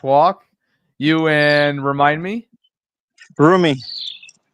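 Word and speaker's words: Rumi: Broomie. Broomie. A roomie or broomie? Broomie. You say it like if it was your roommate, but it's not spel. Is R U M I?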